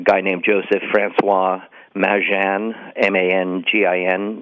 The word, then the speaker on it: Mangin: named Joseph Francois Mangin, M-A-N-G-I-N, now pronounced locally Mangin.